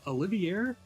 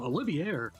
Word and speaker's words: Olivier: Uh Olivier, I believe that's how you say it because that's how they pronounce it in English. But um Olivier, I think he's low-key